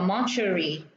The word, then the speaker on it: mortuary: Cái này chúng ta đọc là mortuary, nhà xác.